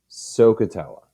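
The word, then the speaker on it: SOHCAHTOA: functions and that is a acronym that you pronounce as sohcahtella i call her the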